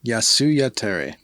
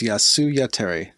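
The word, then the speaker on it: Jasy Jatere: right it's yasuya tere that is how you pronounce it yasuya terry even if we pronounce it wrong for the rest of the episode the proper pronunciation is yasuya terry thank you gabriel aralaga it was uh their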